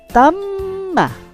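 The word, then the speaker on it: تَمَّ: Nah, ta, tahan mimnya dulu, tam, baru bunyikan ma. Tamma. Tamma. Ya, tahan, bunyikan. Tamma. Nah, jadi mimnya terasa ada dua. Tam dan ma.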